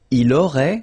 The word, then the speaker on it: il aurait: Il aurait, same thing here, final T is not pronounced, elle aurait, okay?